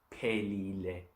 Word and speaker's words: phelile: So pega or pelile comes out of that. Don't ever, if you're reading Zulu, don't ever make a P and a H sound like an F.